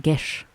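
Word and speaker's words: geas: It's pronounced geese, yes. That changes everything. Wait. I just It's pronounced Gish, apparently, according to Google.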